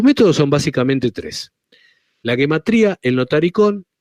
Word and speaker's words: gematría: U, se escribe Gematria, se escribe gematría. Se escribe así básicamente por ignorancia, pero está puesto ya en todas partes, se escribe así, porque en realidad se debe pronunciar gematría. Porque aun cuando pueda sorprender